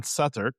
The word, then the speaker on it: Southwark: We stayed in Satuk and for those of you who have never been there, it's pronounced like s u t h a r k but it's spelled south work.